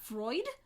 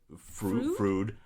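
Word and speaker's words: Froude: James Anthony Frucking say that it's not Freud Frud uh who'd argued for the inherent racial inferiority of the black population of England's colonial holdings.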